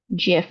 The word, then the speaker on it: GIF: in our other animated GIF or GIF, however you want to pronounce that. Just sort of depends, right?